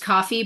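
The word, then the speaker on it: Ko-fi: I also have a I know it's pronounced coffee but nobody but it's spelled k fi so I say k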